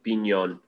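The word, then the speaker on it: piñon: We know we can have pinions here now. Not to be a stickler, go ahead. I was just going to say it's traditionally pronounced pinyon. Yeah, well, that is correct.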